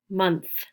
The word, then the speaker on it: month: month um so i want you to practice this last th sound so remember you can see two letters you can see a t and an h but it's only pronounced as one sound and you've got to stick your tongue out of your mouth for this sound a month month it's